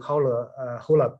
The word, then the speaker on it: HOLA: It's a little bit tangential to HOLA program.